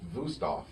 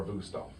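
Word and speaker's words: Wüsthof: But either way, I would go with Wusthof.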